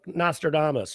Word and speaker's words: Nostradamus: tell us they tell us this stuff like Nostradamus right because that's how you say his name